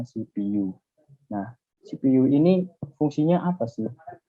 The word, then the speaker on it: CPU: ada yang namanya CPU tulisannya CPU ya Tapi bacanya shippu nah CPU ini fungsinya